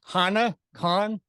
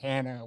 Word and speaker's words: Hana Kahn: So it's Hana Kahn. Did I say it right? You did. Yes. Nailed it. Great, because last time I called you Hannah, which I do apologize for that.